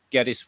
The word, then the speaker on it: Geddes: yeah sure no problem well um i'm gaddis as you wondered about the pronunciation earlier yeah i'm predominantly known as an